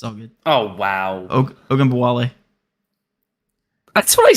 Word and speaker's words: Ogunbowale: But he could say a Goombawale like nothing, huh? Yeah. Yeah. All right. You mispronounced it, but it's all good. It's all good. Oh, wow. Ogunbowale.